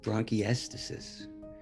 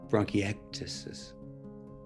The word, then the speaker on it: bronchiectasis: uh i have bronchiestices and he said you have what and i said bronchiestasis he said no no no it's pronounced bronchitis and i think i